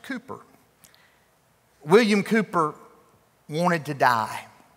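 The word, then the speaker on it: Cowper: some say it's pronounced William calper he's spelled it c-o-w-p-e-r I've been told by historians that he pronounced it Cooper William Cooper wanted to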